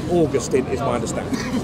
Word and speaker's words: Augustine: augustine right right then please please americans say augustine yeah i know we want to disgust him no no we don't because saint augustine is a town in florida he's saying augustine is my understanding right